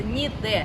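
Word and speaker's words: Niğde: Друзья мои, сегодня мы с вами находимся в турецком городе с очень интересным названием Нигде. Вот так называется наш город, ну или читается Ниде.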